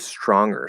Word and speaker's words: stronger: um in the word stronger specifically okay so is the g pronounced or yeah is it more like the um and then er where we don't really have the g now we know that